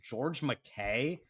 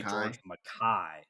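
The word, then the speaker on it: George MacKay: I think George McKay is the American pronunciation, but he is English and so they say George Mai and so I figured I would use the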